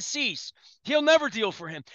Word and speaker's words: Cease: Like, I mean, Cease, did that rhyme with lease? Lease, yeah. Lease and Cease.